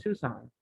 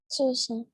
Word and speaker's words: Tucson: The C is silent. Tucson. Tucson.